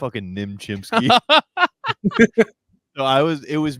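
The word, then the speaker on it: Nim Chimpsky: yeah you know who Nim chimp false narrative about Nim chimp Nim chimp we have to start staying it's nimchimpsky I say it correctly youve never said it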